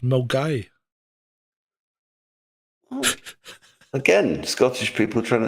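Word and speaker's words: Milngavie: Milgave, but it's pronounced Mgai.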